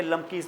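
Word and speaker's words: Klumpke: भी रखा हुआ है के साइलेंट है इसको हम कहते लमकी पैरालाइसिस क्या कहते हैं लमकी पैरालाइसिस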